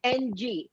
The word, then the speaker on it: Ng: with a vowel so they have a heck of a time pronouncing ng which we can say in cantonese like a grunt and so the mexicans